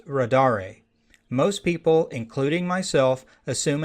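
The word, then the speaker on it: radare2: and yes the name of the toolkit is pronounced rad re most people including myself assume and pronounce the toolkits name as radar but the author of the toolkit calls it rod are a DOS I would expect most people to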